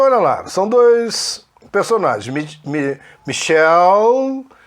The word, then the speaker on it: Michelle: Na verdade, a pronúncia Michelle é para nome feminino, não fala esse último E, né? Então é Michelle, Gabriel. Olha, Gabriel, o masculino é Gabriel. Gabriel é Gabriele que se escreve e é Gabriel. Daniel, Daniele. Então, cuidado com isso. Esses nomes não se fala o E no final, ok?